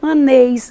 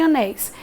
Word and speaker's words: anéis: terminada em ditongo aberto Anéis eu nunca direi aneis e sim Anéis Então eu tenho uma